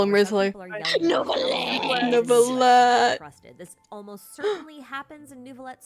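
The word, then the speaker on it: Wriothesley: name that's how they misle you that's R Risley I'm going to continue to call him rley this almost certainly happens in net story Quest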